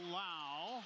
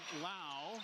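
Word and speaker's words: Lowe: AJ Shaw to Lao. He spells it low. L O W E, but it's pronounced like cow with an L in front. Lao.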